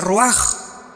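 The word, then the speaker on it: רוח: Se pronuncia roaj. Por ejemplo, cuando hablamos del Espíritu Santo, el Espíritu Santo es roaj, el cadosh, el Espíritu Santo.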